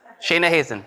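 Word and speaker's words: Shayna Hazan: Shayna Hazen. There you go, rhymes with raisin.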